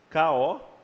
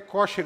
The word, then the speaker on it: kosher: K-O-S-H-E-R, ou K-A. Tu pode ler kosher em português ou kasher já na... Kasher seria em português e em hebraico, e kosher seria a palavra americanizada.